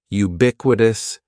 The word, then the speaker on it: ubiquitous: word is ubiquitous and ubiquitous has four syllables that first syllable is just like you're saying the letter U ubiquitous and the stress is going to be on that second syllable ubiquitous ubiquitous ubiquitous means existing